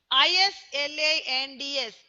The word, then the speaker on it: island: Islands. Islands. S is silent here.